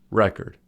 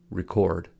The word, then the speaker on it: record: on the first syllable record but when record is used as a verb the stress is on the second syllable record I made a record